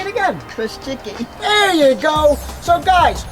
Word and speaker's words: Chrusiki: Chrusiki. See, I would say that, but I would ruin it. How do you say it again? Chrusiki.